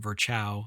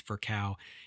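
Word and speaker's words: Virchow: Um if you've read that name before you may have pronounced it Vchau. It's not Vchau, it's Vercau.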